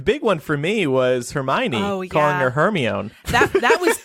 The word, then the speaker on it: Hermione: Like some people told us it was Hermione. Some people told us it was Hermone. Hermone. Yeah. It honestly wasn't until, I don't think it was until the movies came out that I learned the right way to say her name.